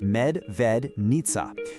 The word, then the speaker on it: Medvednica: the local name right, Medvednica. Pronounced Med-ved-nitsa.